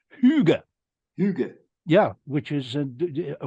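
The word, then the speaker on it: hygge: language spelled h y g g e but pronounced Huga Huga yeah which is a wonderful word of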